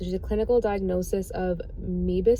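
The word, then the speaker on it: Moebius: a clinical diagnosis of meebus syndrome it's spelled m-o-e-b-i-u-s syndrome which is actually not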